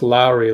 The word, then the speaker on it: Lauri: It's pronounced Lowry, like Mike Lowry.